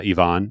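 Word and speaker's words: Iván: yotti and I uh Ivonne it's Ivonne I that that is locked in now I don't know how we've been pronouncing it but it is Ivon according to him um and and this story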